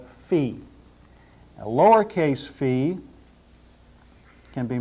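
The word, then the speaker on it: φι: looks just like this some of you may have learned to pronounce this fi but not now we're going to call it Fe a lowercase fee can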